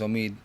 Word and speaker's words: Omid: like my name is Omid hey my name is two syllables sir martin italians [